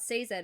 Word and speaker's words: Sazed: Yeah, this is another, like, Vin and Sazed bit, where, And it is Sazed, I wrote it down. And it is Sazed. Oh, the pronunciation?